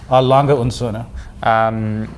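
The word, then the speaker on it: Lange & Söhne: yeah I would say are longer in sauna Llangollen sauna yeah the the end isn't in German and the D is more pronounced activity and the Cerner is a prologue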